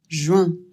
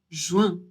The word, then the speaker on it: juin: juin, I et N, ça fait un. Il faut bien prononcer le U et ensuite passer au 1. Juin.